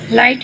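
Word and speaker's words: light: में B silent है, लाइट में GH साइलेंट है, साम में P साइलेंट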